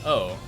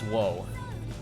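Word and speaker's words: を: well but it's pronounced oh like you you write it w-o but it's always pronounced oh right you don't you don't pronounce whoa whoa why whoa it's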